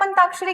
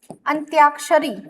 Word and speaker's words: अंत्याक्षरी: उदाहरण के तौर पर मैं यहां अंताक्षरी बताती हूं। प्रोनाउंस भी आप अंताक्षरी करते हो तो आपको लगेगा कि ये सही है। पर होता क्या है? अंत्याक्षरी। अंत्याक्षरी।